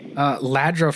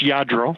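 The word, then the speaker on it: Lladró: You actually, you made a note, and I wanted to ask you, so like, would today's, collectible cars become, Ladro figurines?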